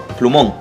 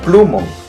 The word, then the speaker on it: plumón: fuerza de voto diría pluma no se dice plumón yo digo plumón por acabar en la n automáticamente debo tildar plumón se tira en la última sílaba es una palabra aguda dime luchito celular celular